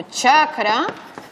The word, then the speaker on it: chakra: Es decir, una transliteración como chakra es, desde el punto de vista académico, incorrecta, porque esto se pronunciaría en sánscrito chakra. Por tanto, es una sola C que se pronuncia pues, como en italiano chita.